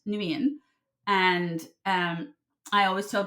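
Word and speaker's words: Nguyen: The G is silent. Nuian and um I always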